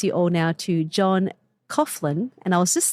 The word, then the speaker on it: Coughlan: I would pronounce it Coughlan, but apparently it's an Irish name. There are different pronunciations depending on which region you're from in Ireland.